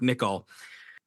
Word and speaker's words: Nicol: ni i o l nickel and and it's like if you were to shave and you Nick all of your face that's how it's pronounced nickol so anyway nickel Williamson